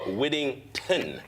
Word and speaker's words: Whittington: going to apologize cuz I've been calling him Noah Whittingham. I kind of like that British version. Yeah, I apologize because I I have a big thing about mispronouncing people's names. So, I want to stand up and say I was wrong.